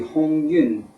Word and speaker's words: Hong Yun: number 21 it's being called the Hong Yun uh T varietal that's that's the Mandarin pronunciation of it um what else can